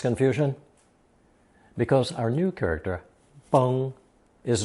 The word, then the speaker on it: 崩: Pronounced first tone, 崩.